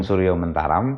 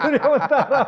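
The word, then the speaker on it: Suryomentaram: Ageng suryentaram Oke ini Ini lucu nih ah orang orang Padang bacanya Ki Ageng suryomantaram iya i Ki Ageng suryomantaram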